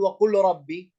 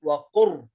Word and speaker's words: قل رب: لا نأتي بحرف اللام، لا ننطق حرف اللام، لا نقول وقل ربي، نقول وقر، قاف في الراء مباشرة، نحذف اللام، فهنا إدغام كامل.